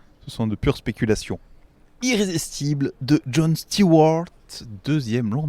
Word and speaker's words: Irrésistible: campagne irrésistible n'y a pas d'actes forts donc il faudrait la prononcer à l'américaine irrésistible bon bref irrésistible parce